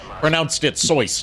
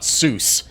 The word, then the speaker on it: Seuss: And yes, I do say Soysian because Dr. Seuss himself pronounced it Seuss, not Seuss. That is historical revisionism from people that don't know how German words are pronounced.